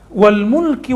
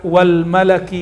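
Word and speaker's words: الملك: Wal mulki wal malakut. Alam mulk atau alam malak. Boleh dibaca wal malaki wal malakut. Nah, ini ada beberapa cara baca.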